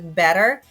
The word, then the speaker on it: had better: So had better is pronounced as better in spoken English.